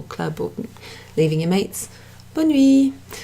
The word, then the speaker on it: bonne nuit: Bonne nuit. Bonne nuit. Sometimes you'll hear the E at the end, the E sound pronounced, and that's common in French.